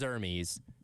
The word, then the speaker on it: Hermes: from Scott that says it is Hermes. That is the answer. It's been that way for forever. How do you even spell that? Irmise. Oh, Hermes. Hermes. Hermes. Yeah. All right. There you go. Hermes. Now we have our answer. That is multiple people that have confirmed that.